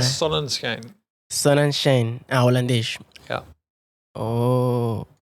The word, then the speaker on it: Sonnenschein: Sunshine é inglês, né? A minha língua é Sonnenschein.